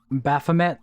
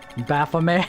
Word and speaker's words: Baphomet: It's kind of funny, every time I see Baphomet typed out, my brain automatically says Baphomet, because that's how I've been saying it for so long.